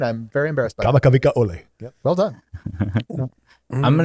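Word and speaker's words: Kamakawiwoʻole: Because I could never pronounce that name. I'm Native Hawaiian. I'm very embarrassed by it. Kamakavika Ole.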